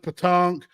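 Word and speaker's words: pétanque: It's like bulls, pronounced petanque.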